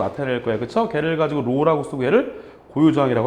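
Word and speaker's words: ρ: 이 녀석은 로라고 읽어주시면 돼요. 로우라고 읽어줄 거고 얘는 뭐예요?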